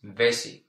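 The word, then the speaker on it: vesi: the word water is vessie how would you spell it vessie vessie v e SI I SI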